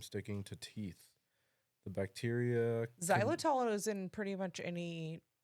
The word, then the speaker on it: Xylitol: Xylitol. Yes, there you go. Xylitol is a natural sweetener that prevents cavity-causing bacteria from sticking to teeth. The bacteria. Xylitol is in pretty much any sugar-free gum.